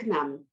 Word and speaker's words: Cnam: it's the canaan library so nam is the way we pronounce it it's a little bit complicated but you will get used to it eventually so nam